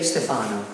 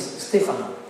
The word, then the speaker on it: Stefano: But all the foreign people say Stefano. But in Italian is Stefano.